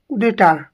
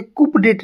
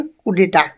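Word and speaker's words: coup d'état: इसे कुपडेट नहीं बोलेंगे। ठीक है? ये क्या बोलेंगे? कुडेटा। इसका मतलब होता है sudden over throw of a government. तख्ता पलटन होता है। बहुत ही ज्यादा इंपॉर्टेंट है। कुटे कुटे इसको कुप दैत्य नहीं बोलेंगे।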